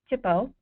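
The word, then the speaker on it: THPO: if there is it's they're pronounced Tipo if there is a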